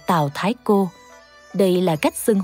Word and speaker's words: Tào Đại Gia: đại gia thì sao hai chữ đại gia này không đọc là đại gia Trước đây tôi cũng thường đọc là tào đại gia tôi nói Tại sao lại đặt tên này sau khi nghiên cứu kỹ thì mới phát hiện chữ đại này đọc là thái giống chữ Thái trong thái thái Còn chữ gia là cô là chữ cô trong từ cô thúc nên phải đọc tào đại gia thành Tào Thái cô Đây là cách